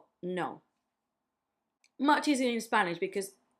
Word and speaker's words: no: Notice that the no is different because you make like a no in English, and in Spanish it's just no. No.